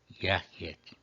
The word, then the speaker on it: jacet: Finalmente, laudabamus, jacet, caico, ilius, convocal erant, intelligit. Por quê? Laudabamos, a penúltima é longa, acento na penúltima. Jacet, penúltima breve, acento na antepenúltima.